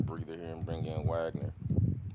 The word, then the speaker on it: Wagner: here and bring in Wagner Vogner Van W's V a German pronunciation and we'll leave the